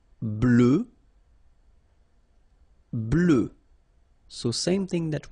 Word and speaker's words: blanc: okay so here masculine BL don't pronounce the final C and then blanch okay